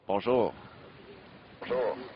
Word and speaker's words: Bonjour: Trying to put the accent on the or at the end. Bonjour.